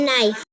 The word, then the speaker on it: knife: eight inch one the knife the knife the knife make sure you spell it correctly sometimes people forget that nice is starts with a k the k is silent okay is the fork